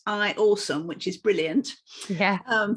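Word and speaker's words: IAUSM: teacher on the platform it's i a u s m but pronounced i awesome which is brilliant yeah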